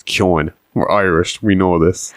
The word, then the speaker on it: Keoghan: He's even started pronouncing his own name wrong. It's Keoghan.